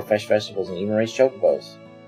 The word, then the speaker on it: chocobo: vegetables and even raise chocobos. When I was a kid, we called chocobos chocoboos. And so occasionally I'll accidentally say chocoboo, even though I know the pronunciation now.